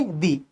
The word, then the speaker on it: the: और जब कभी किसी वर्ड की इनिशियल साउंड क्या हो, वोवल, तो हम उसको बोलेंगे दी। तो इस वर्ड को भी दो तरीके से प्रोनाउंस किया जाता है, दा और दी।